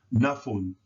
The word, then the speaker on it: nafun: And this word would be pronounced nafun, nafun, nafun, which means to give.